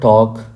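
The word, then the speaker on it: talk: Look at the word टॉक, लफ्ज़ टॉक को देखिए, शब्द टॉक को देखिए। हियर L इज साइलेंट, यहाँ पर L साइलेंट है।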